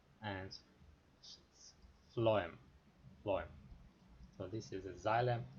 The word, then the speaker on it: phloem: and the second is phloem phloem is actually original ph ph is pronounced as f and phloem so this is a